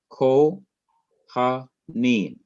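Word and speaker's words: כֹּהֲנִים: Ko, ha, neem, a 3-syllable word. Notice you do not see any accent symbol there, because it is taken for granted, it is understood that the last syllable, neem, is to receive the accent, even though the symbol is not there.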